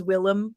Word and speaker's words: William: and I know that in early New England they would often pronounce William as Willem you know like you